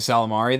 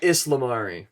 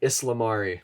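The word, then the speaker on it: ysalamiri: completely made out of the empire cannon the salamari though the salamari the islamari that's what it's called that's how it's pronounced yeah islamari i feel like an idiot um for pronouncing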